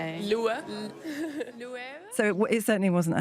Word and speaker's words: Loewe: There was a campaign a long time ago pre pre Jonathan Anderson of just trying to teach people how to say it. Lov.